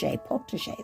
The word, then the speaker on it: potager: And there's a little picture of the potager, that's how they say it.